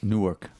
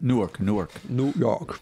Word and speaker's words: Newark: Newark. De New York, oui. Newark.